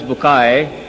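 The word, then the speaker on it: Bucaille: a scholar of Quran Dr. Morris Bukail pronounced as Morris Bukay.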